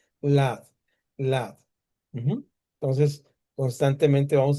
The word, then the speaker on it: Ladd: Así se pronuncia en inglés y en español, igualito. Lad, Lad.